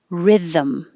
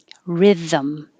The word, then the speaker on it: rhythm: And 36 is two syllables, rhythm, rhythm.